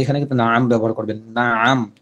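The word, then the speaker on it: نعم: না আম, উচ্চারণটা খেয়াল করেন। না আম, আইন মিন জবর আম, না আম, চাপ দিয়ে বলে না আম।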